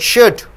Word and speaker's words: should: The L is silent over here. You see here. Could. You don't say could. Could, should, would.